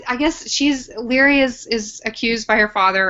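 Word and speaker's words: Laoghaire: We're going to call her Leary.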